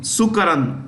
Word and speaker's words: Sukaran: Sukaran, S-U-K-A-R-A-N.